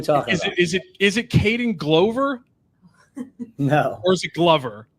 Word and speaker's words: Glover: It's Glover.